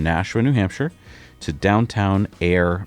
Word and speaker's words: Ayer: Goes from Nasha, New Hampshire to downtown Air, Massachusetts. And we spell that A Y E R.